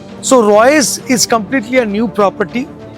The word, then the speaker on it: Roycee: I mean, uh Royce Royce Royce is actually a French name. And double E, right? Uh yeah. So, the last E is uh you know, it is not pronounced.